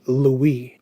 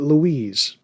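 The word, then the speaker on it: Julia Louis-Dreyfus: Have you ever noticed how they pronounce her middle name? They pronounce it Louie. Where's the S? Why isn't it Louise?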